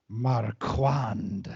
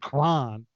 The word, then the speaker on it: Marquand: is Tom mark and he pronounced that Marquand not crime he gave it the